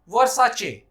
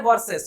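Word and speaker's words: Versace: आपने भी कहना होगा वर्साचे, आपने नहीं कहना है वर्सेस, क्योंकि कंपनी जो कह रही है आपने भी वही कहना।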